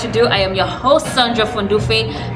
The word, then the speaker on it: Sahndra: Without much ado, I am your host, Sahndra from Dufe. The H is silent.